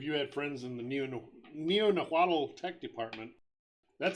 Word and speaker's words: Neo-Nahuatl: Neo-Nahuatl, just like it sounds. Neo-Nahuatl. Just like Quetzalcoatl.